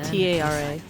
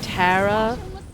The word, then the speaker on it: Tara: Oh, it's Tara, T-A-R-A. In the US, there are numerous ways we might pronounce that name. We might say Tara, Tara, Tara. All of those are potential pronunciations for that spelling.